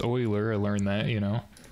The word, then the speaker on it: Euler: another one of these project oiler I think it's pronounced oiler I learned that you